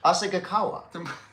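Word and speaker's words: Asahikawa: Asagawa. Yeah, that's fine. Well, what did I say? I thought I said Asagawa.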